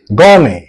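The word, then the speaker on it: gourmet: যাবে কাজে আসবে না গমে next word G ও ইউ আর এম ই টি টি এর উচ্চারণ হয় না গমে ওকে গমে এই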